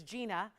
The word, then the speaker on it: Jenia: Okay, that's so, because it's spelled, guys, Jenia, so I wasn't sure. So it's Gina.